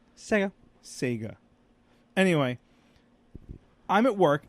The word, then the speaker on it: Sega: not my Sega Genesis even though it's spelled with an e it's pronounced Sega Sega right Sega not sigga sigga Sega anyway I'm at work